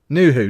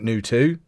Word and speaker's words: Nuhu: Kraljevic to Nuhu, not Nutu.